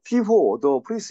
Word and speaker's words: Hugo de Vries: 아, 휴고, 피호, 더 프리스. 이거는 네덜란드 사람이기 때문에 그 이름이 이렇게 발음이 되는 거.